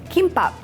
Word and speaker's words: kimbap: Folded kimbap.